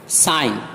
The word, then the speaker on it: sign: یعنی سائلنٹ رہتا ہے، جیسے سائن، SIGN سائن، اس میں دیکھیے این سے پہلے جی آیا ہے لہٰذا یہ جی خاموش رہے گا، سائن دستخط۔ ریزائن استعفیٰ